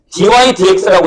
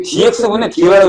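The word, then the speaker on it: dy/dx: 밑에 1번에 dy dx라고 읽는다.이 dx분의 dy라고 읽을 거면 나한테 배웠다고 얘기하지 마.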